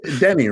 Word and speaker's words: Teni: You Teni, right? Yes. Oh, yes. I suppose that's true too. I should have mentioned. Yeah, my name is spelt with a T, but it's pronounced like a D.